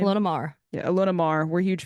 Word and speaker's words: Ilona Maher: Ilona Maher.